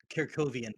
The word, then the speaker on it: Kovian: Kovian, by the way, Robo. Uh, that's how I should have pronounced it.